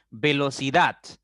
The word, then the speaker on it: velocidad: Velocidad, la sílaba tónica es dat y las otras 3 son átonas, ¿ok?